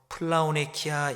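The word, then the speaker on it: πλεονεξία: 탐심은 헬라어로 플라오네 이렇게 발음합니다. 필요 이상으로 가지는 것이 플라오네 탐심입니다.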